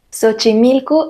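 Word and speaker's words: Xochimilco: y sochimilco es un topónimo de origen prehispánico sochimilco es un lugar que se encuentra al sur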